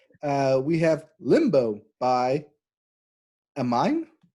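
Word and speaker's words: Aminé: we have limbo by amine so they're supposed to be an accent on the e there so i think like anime but you're dyslexic well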